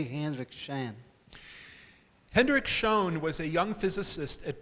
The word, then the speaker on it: Schön: Hendrik Schön was a young physicist at Bell Labs in the United States. O Schön, e acabei de ser corrigido na pronúncia.